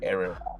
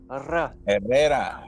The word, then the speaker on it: Herrera: It's Herrera. Too many R's for us. Herrera is the proper way to say there's it.